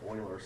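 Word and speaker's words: Euler: but his his last name even though it's pronounced Oilers starts with an E and that's where the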